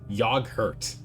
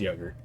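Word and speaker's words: yoghurt: Oh, I know it's still pronounced yogurt, but I do think it's funny. There's an extra H in there. I think that's just a holdover from French, from the French influence in England's English, right?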